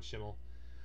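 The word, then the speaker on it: Schemmel: that has been long-running sean chamel uh sean schimel chamel however people pronounce it different ways it's sean schimel but um he voices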